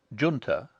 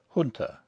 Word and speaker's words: junta: have chosen to use the pronunciation junta rather than the more correct hunter on the grounds that an aristocratic young englishman of the edwardian era would not stoop to use other than an anglicized pronunciation all other unusual pronunciations